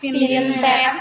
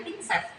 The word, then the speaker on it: pinset: pinset anatomis pinset kadanya jangan pinset ya dibiasain pinet tulisannya juga bukan bukan Pink tapi pinset bacanya pun pinset nah pinset itu ada